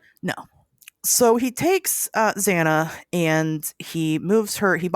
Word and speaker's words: Zana: I'm like, is it Zana? Is it Zanna? Uh, it's it's Zana.